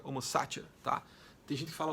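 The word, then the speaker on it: homo sacer: o homo satier certo a pronúncia correta seria homocácia tá Tem gente que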